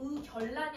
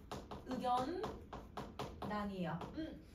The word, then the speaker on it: 의견란: 난자를 결합을 해보자 그럼 이거 발음할 때도 의견란이 아니라 의견 난이에요음 자 그다음에 2번을 했어